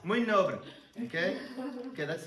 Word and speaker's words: Mui nobre: Muy nobre. Okay? Okay, that's I'm going with the Portuguese pronunciation. Muy nobre.